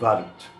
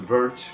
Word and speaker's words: Wort: Neuter noun, and it sounds, even though it looks like it should be pronounced vert to Americans, it really rhymes more with the word fart in American English.